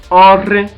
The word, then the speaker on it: Ore: Please, the ROH digraph, when you want to pronounce it in the Urhobo language, you stress it, you roll your tongue. The other example we're having there is Ore.